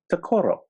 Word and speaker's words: Tokoro: hurt and now it's tokoro okay yes thank you accent is on stress stresses on the first syllable pretend there's an apostrophe